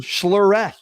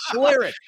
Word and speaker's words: Schlereth: former vandals last name you keep calling him schler it's Mar schare so whatever Vandal journalism